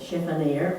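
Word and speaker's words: chiffonier: is the is the the word chiffonir which is a mispronunciation of a French word but it is said chef and air and it's a um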